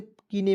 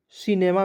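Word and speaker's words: cinema: इसे क्या पढ़ेंगे दोस्तों बहुत लोग जो है दोस्तों इसे कीने में पढ़ लेता है क्या है गलत तरीका है सी का दोस्तों यहां पर उच्चारण स के रूप में होगा सी आई सी एन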